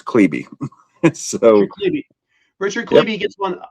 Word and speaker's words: Klebe: This His is a name, lot of, for the record, for everybody that sees Richard Klebe on the page, his name is pronounced Klebe.